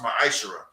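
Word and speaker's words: מעשר: heath means means 10th in hebrew and is pronounced maisera 10 percent of any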